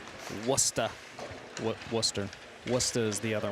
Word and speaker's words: Worcester: We did our quick pregame checks on internet speed, and Worcester knows how to do it. Worcester, sorry, I keep saying it wrong. I think they answered almost anything, but it is Worcester.